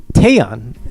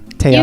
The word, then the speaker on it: Taeyeon: So up next, it's Daebak or Not, and this week we're taking a look at Taeyeon. Am I pronouncing that guys right? Taeyeon? You got it. Okay, Taeyeon.